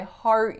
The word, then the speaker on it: heart: you I heart you so again English isn't phonetic right so seeing the letters e a r that's no guarantee whether it's going to be r or R but in this case it's definitely r i heart you you